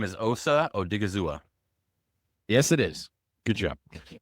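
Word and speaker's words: Osa Odighizuwa: Dallas word, but his name is Osa Odigizua.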